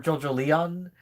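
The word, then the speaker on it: JoJolion: Um, but I know for sure I did not care for JoJo Leon. That's how it's pronounced like Evangelion. That's how it's supposed to sound like.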